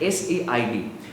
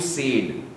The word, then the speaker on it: said: And maybe along those same lines itself, the pronunciation of said, S-A-I-D. You're stretching it a little bit. You tend to stretch it as you said.